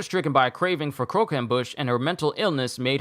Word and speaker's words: croquembouche: know how to say it now it's called croquembouche uh was later stricken by a craving for croquembush and her mental illness made her mindlessly violent